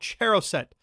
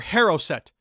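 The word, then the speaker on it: charoset: honey apple nut mix called choset or haroset or heret it's pronounced a lot of ways and it has a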